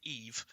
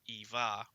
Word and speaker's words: Eve: that the character in Wall-E is actually called Eve. Yes, not we Eva, we and are. it is yes. Wall-E's mispronunciation almost of her name that inspired my daughter's name, because he does say Eva rather than Eve.